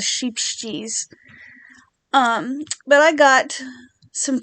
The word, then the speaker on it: Scheepjes: brand of yarn but I'm going to go with sheep G because that's what Crystal from bagot day says is sheep cheese um but I got